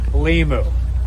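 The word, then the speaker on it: Limuw: It is I'll tell you how to pronounce it. Limu.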